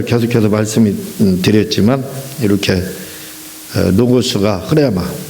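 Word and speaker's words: ῥῆμα: 어쨌든 성경이 먼저 계속해서 말씀이 드렸지만 이렇게 노고스가 흐레마, 우리가 흔히 이제 레마 이렇게 하는데 영어식 발음이라겠죠. 흐레마, 원래 헬라어는 흐레마로 돼 있어요.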